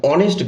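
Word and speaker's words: honest: কিন্তু আমরা অনেস্ট উচ্চারণ করি। এই ও থেকে উচ্চারণ হচ্ছে।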